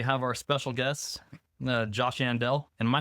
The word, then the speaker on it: Yandell: And we have our special guest, Josh Yandell.